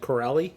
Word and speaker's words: Corelli: ABC miniseries called cor how do you say that Corelli thank you there's no G in there and I'm not got